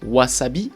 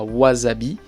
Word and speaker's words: wasabi: japonais mais en fait c'est vraiment un s comme dans wasabi et pas wasabi houdan nagasaki et pas